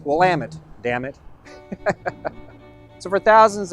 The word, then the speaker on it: Willamette: we can help them out by saying it's Willamette damn it so for thousands of years and